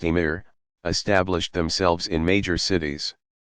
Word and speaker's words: emir: Not long after Arab troops began to occupy the Iberian Peninsula, Muslim princes, called amirs, literally commanders, pronounced emir, established themselves in major cities.